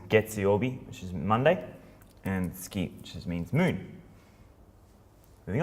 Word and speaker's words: 月: You also see this as getsuyobi, which is Monday, and tsuki, which just means moon.